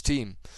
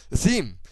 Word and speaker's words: theme: uh selected user interface Team theme sorry I've been told in the last video that team is the incorrect pronunciation so it actually pronounced the theme and I'm trying to